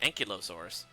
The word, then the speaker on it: Ankylosaurus: I always pronounced it Ankylosaurus.